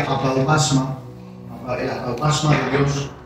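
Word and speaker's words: ἀπαύγασμα: Esa palabra es una palabra en griego que se pronuncia apaupasma, el apaupasma de Dios,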